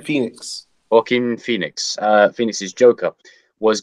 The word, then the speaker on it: Joaquin: joking how do you say his first name Keane Phoenix Joaquin Phoenix finished his Joker was gonna be any